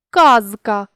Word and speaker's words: казка: вимові і на письмі візьмімо слово казка нібито складно зрозуміти який же саме там звук з чи с але запам'ятайте що у цьому слові не відбувається уподібнення за глухістю тому вимовляти це слово зі звуком с буде неправильно говоримо чітко казка і пишемо літеру з така ж сама ситуація